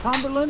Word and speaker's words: Tomberlin: But a guy by the name of Bobby Tomberlin, is that how you say it? Yes, sir, that's right.